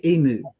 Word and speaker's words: emu: I've heard some Americans say emu, but the majority say emu. There's no oo on the end of it. It's a u.